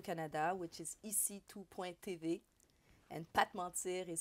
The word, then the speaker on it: Pa T'mentir: And Pat Mentir is spelled P-A-T, comma, M-E-N-T-I-R.